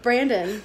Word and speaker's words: Brandon: Yeah, everybody mispronounces his name. I know. So no, he told me about this book. I checked it out. Brendan. Yeah, that's it. No, Brandon. Everybody calls him Brendan.